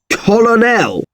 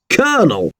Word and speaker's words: colonel: This word isn't pronounced colonel. It's pronounced colonel.